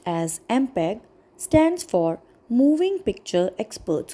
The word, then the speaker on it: MPEG: Students know the fact that MPEG, pronounced as MPEG, stands for Moving Picture Experts Group.